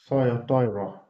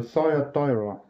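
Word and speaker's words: Thyatira: pronounced different differently in English so apparently it's pronounced thyra okay so thyra now that is Revelation 2 from Verse 18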